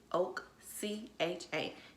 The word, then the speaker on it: Oakcha: It's spelled O-A-K, Oak, C-H-A, Cha. So it's Oakcha.